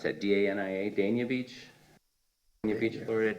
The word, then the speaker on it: Dania Beach: We've done a little bit more research, and back in Dania, how do you pronounce that? D-A-N-I-A, Dania Beach? Dania Beach, Florida, Dania Beach, Dania Beach.